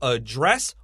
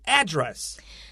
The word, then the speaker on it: address: today is a verb, to address or to address. To address, to address, 这个就是探讨的意思。这边当动词哦。 Yeah, both pronunciations are fine.